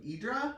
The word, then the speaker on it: Hydra: spent time at the island of idra which is spelled hydra which is a it's not